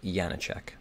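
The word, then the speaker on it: Janáček: his first name but I know it's pronounced yanacek gently now uh AAA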